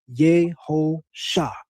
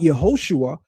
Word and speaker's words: Yehosha: And he literally pronounces it Yehosha. Yehosha. Not Yehoshua, but Yehosha.